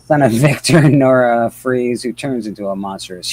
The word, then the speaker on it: Fries: I think it's Freeze, isn't it? Victor No, that's how he spells it. Yeah. Yeah, that's how they spell it in the. Yeah, his actual name is Freeze, and that's how he spells it.